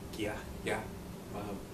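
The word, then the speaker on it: Gaia: This producer, yeah, it's more or less pronounced Gai'a, just kind of like yeah. One thing it's not pronounced as, Gai'a, although that's what it looks like on the English label.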